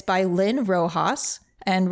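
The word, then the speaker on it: Roxas: game it's by Lynn Rojas and Rojas is spelled r-o-x-a-s and you can find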